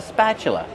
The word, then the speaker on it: spatula: Use the short a sound like black cat. Spa plus the ch sound like chicken. That's right. The t is pronounced with the chch sound.